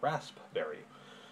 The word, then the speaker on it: raspberry: is actually spelled correctly raspberry which is somehow rasp somehow becomes razz i don't know why